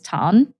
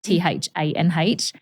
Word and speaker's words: Thanh: My name is Tan, Thanh.